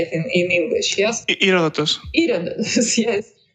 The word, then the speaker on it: Herodotus: Herodotus.